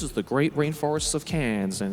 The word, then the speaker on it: Cairns: I remember when I was up in Cairns one time, which is Wait, where? Cairns? Like in France? No. That's Cannes. Cairns is spelled Cairns. Yeah, right?